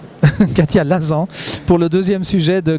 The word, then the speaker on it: Lasan: Alors vous regardez le deuxième sujet, Katia Lazan, puisqu'on doit prononcer à la française, Katia Lazan, pour le deuxième sujet de Gueule d'ange.